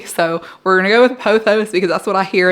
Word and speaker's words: Pothos: So we're gonna go with Pothos because that's what I hear and that's what I feel is the right way to say it.